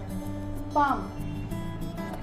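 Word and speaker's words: palm: अब आप देखोगे यहाँ पे जब हम इसको प्रोनाउंस करेंगे तो ये बनेगा हमारा पाम। देन जो अगला है वो बनेगा हमारा हाफ।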